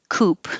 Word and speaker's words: co-op: this shortened to just coop it looks like c-o-o-p coupe it is still pronounced the first part of the whole word co-op so the stress moves to co but it is kind